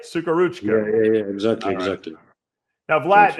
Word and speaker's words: Suhoruchko: Suhoruchko. Am I right? Yeah, sure. Exactly. Did I say it right? Suhoruchko.